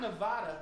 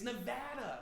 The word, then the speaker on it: Nevada: It's not Nevada. They get really mad if you say Nevada. It's Nevada, okay? They corrected me like 18 times. Especially once you had the medicine. You're like, Nevada, and like, no, okay.